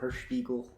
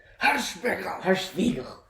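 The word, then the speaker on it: Hirschbiegel: So this movie was directed by a German director named Oliver Hirschspiegel. It was written You're by... not pronouncing right. It's Hirschspiegel.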